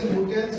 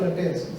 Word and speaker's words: Lutyens: I don't know how to pronounce Mary Lutyens or Lutyens. Yeah, you can say luteins or Yeah. luteins. Both are okay.